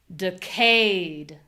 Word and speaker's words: decayed: Now, on the second syllable, we have high voice, long vowel, clear vowel. Cade cade decayed. Decayed.